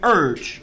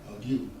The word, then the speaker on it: ague: The burning urge. That's how you pronounce that. The burning. Ague.